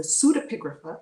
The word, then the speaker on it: pseudepigrapha: So the P is silent, as in psychology.